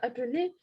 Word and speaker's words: appeler: appeler, R не читается, да, appeler, это форма, женский род.